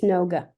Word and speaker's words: Noga: hear you say your name in case I mispronounced it I want to make sure I got it right got it right it's noga okay lovely lovely thank you yeah how are